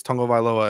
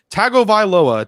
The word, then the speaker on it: Tagovailoa: of him saying it's tongo vailoa and everyone keeps going tagovailoa tango he there's a video that you can watch of him phonetically saying his name like i just don't